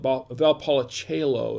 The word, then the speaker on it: Valpolicella: the Monty Tondo of Valpolicella Bob about Paula cello is how it's pronounced and I for